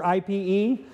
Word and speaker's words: Ipe: So we got a little piece of Brazilian hardwood, or IPE. IPE is pronounced Ipe.